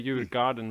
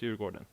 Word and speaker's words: Djurgården: Djurgården, yeah. So some people Interesting, okay. will say Djurgården maybe or something, but it's Djurgården. Yeah, that's how I usually pronounce it.